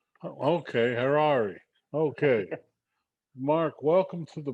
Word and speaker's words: Harari: we uh welcome mark carrari am i pronouncing it correctly yep just rhymes with ferrari okay harare okay mark welcome to